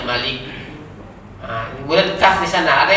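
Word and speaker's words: مَلِك: Maliknya kan pendek linya, Malik.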